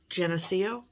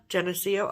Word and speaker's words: Geneseo: live in around nearby within driving distance of Geneseo, is that how you say it? Yeah. Geneseo?